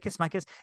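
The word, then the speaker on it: Mikeš: It's Mikes with a little thingy over the E there. So Mikes. Anyway, he is the sitar player at Animal Kingdom Lodge.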